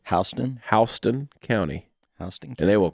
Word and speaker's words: Houston: The name of that county is spelled the exact same way as Houston, but that's not how you pronounce it. Houston? Houston County.